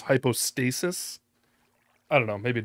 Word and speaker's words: hypostasis: express image of the hypothesis of the father yeah that's another sort of a mispronunciation I think he says hypothesis I think the term is hypostasis I don't know maybe